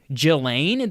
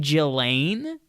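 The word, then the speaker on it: Ghislaine: see that happening um jillane that's how you pronounce this lady's name jillane Jill Anne Maxwell that's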